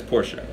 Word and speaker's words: Porsche: pick people woops a Porsche right the correct pronunciation of that word is Porsche right and it's very polished right it's a